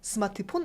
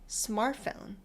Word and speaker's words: smartphone: 여기서 발음 주의할 거 하나, 스마트폰 아니고 smartphone.